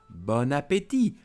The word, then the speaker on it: bon appétit: And of course the expression bon appétit, bon appétit. We put the word together in French. Don't forget, do not pronounce T.